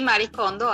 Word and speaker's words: Marie Kondo: ¿Se pronuncia así, Katy? Sí, Marie Kondo, así es.